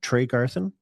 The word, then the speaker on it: Tregarthen: My guest today is uh uh Trey Garin. Did I pronounce that correctly? Trey Garin.